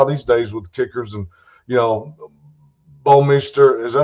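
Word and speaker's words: Bouwmeester: And then now these days with kickers and, Bomeister, is that how you pronounce his name? It's Bomeister, yeah. Bomeister.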